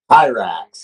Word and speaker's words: Hirax: Is it Hyrax or Hirax? Hyrax, yep.